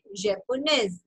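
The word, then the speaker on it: japonaise: last letter is ई तो आपको एस तक प्रोनाउंस करना है so this will sound Pakistan ने ओके पाकिस्तान ने पाकिस्तानेज जापोने जापोनेज कैनेडिया Canadian okay so practice जापोने five times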